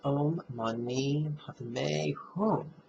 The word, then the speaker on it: Om Mani Padme Hum: These first several videos will be about the very famous six-syllable mantra that's pronounced Om Mani Padme Hum, and its nickname is the Mani.